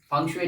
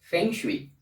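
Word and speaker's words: 风水: आप लोगों के साथ फंग शुई टिप्स शेयर करने के लिए, फंग शुई को साइंस के दृष्टिकोण से एक्सप्लेन करने के लिए। फंग शुई, कुछ लोग इसको उच्चारण करते हैं फेंग शुई, मगर सही उच्चारण है फंग शुई।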